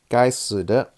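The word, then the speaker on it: 该死的: And the Chinese characters right here, if you're wondering, it means "damn" in Chinese, and in Mandarin it's pronounced "gai si de."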